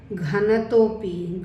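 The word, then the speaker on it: घ्नतोऽपि: ठीक है, ऐसे आपको ओ की मात्रा के बाद अवग्रह के सिंबल के बारे में बताया था कि यहाँ भी आपको अ का उच्चारण नहीं करना, यहाँ हम उच्चारण करेंगे घनतो अपि। घनतो अपि, ये घ है, घनतोपि, घनतोपि, घनतोपि।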